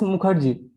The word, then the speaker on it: Mukherjee: Now it's the turn of Mukherjee. Did I pronounce correctly? Hello, can you hear me? Yeah, very well. Your surname was correct, Mukherjee? It is Mukherjee.